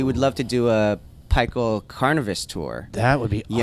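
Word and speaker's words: Pikul: And Wait, it's pronounced Pikel? and so Yeah. Oh, shit. Well, I have been 15 years later. I have been correcting people for a long time. Like, it's pickle, okay? It's clearly pickle.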